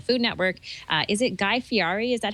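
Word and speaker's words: Guy Fieri: show on the Food Network uh is it guy fii is that how you pronounce yep yep and uh basically what happened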